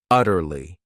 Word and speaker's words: utterly: Then we have another great adverb, utterly. This word has 3 syllables, and the stress is on that first syllable, utterly.